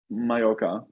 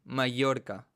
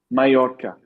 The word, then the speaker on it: Mallorca: uh yeah but just mayoka you know and how do you pronounce it in spain no it's not just difficult because it's not an l like this like double l says e mallorca mallorca yeah okay well and